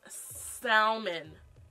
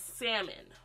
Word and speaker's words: salmon: I own someone please stop pronouncing the L in second sermon it's not Salman is salmon or someone caramel and